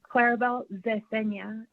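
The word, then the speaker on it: Claribel Zecena: minutes and may begin hello my name is clarabel zesenya that's spelled c l a r i b e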